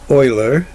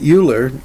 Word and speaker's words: Euler: there's a picture of a Oiler again I would pronounce that uler I don't care how you pronounce it but uh that's what I've heard Oiler now arguments with universal